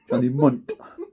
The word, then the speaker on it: Johnny Munt: Johnny Munt is how you say it.